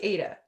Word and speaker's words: Ada: say Ada or Ada? I say Ada.